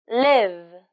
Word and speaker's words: live: y o you live I V live pay attention to the final sound m v live live